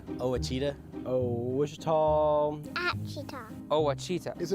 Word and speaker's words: Ouachita: Ouachita Ouachita How would you pronounce it? Ouachita Ouachita It's Ouachita Baptist University. Get it right. It's Ouachita, people.